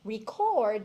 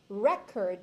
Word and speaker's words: record: a noun okay so there's some of those words where it's just that the stressing of which syllable changes but it's essentially